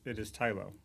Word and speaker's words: Tylo: I hear people pronounce it Tylo or Tilo. I always pronounce it Tylo. I pronounce it Tylo. We are the deciders, right? So it is Tylo.